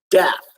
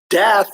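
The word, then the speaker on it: Daath: In the Western world, we call that doorway death, a word hermetically sealed but phonetically exposed in the Hebrew tree of life, where it is called Dath, D-A-A-T-H, which translates to wisdom or to the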